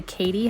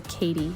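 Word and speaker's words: Cady: I called them the Katie short it's spelled c a d y kind of like Mean Girls Katie Heron did I say it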